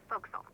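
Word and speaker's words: forecastle: of a sailing ship but it's pronounced FAL why is that try pronouncing it like an English sailor with no formal education SP Castle folville over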